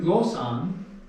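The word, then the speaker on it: γλῶσσαν: Tin glosan.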